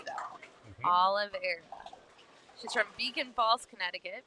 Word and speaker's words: Oliveira: Oliveira.